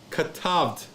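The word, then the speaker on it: כתבת: So in actuality, this word right here, 2-syllable word, is pronounced katavd.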